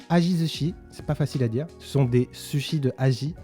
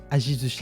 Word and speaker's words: Ajizushi: The Minato Ajizushi, it's not easy to pronounce. It's aji sushi. Ajizushi is the iconic ekiben of the Numazu and Mishima region.